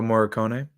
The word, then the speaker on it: Morricone: The E at the end of Morricone is pronounced. Just switch what you're doing. Okay. Ennio Morricone.